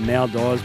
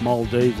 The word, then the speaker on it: Maldives: on a holiday to what I call the nail dies but it's pronounced Maldives as I've been told so I'd like to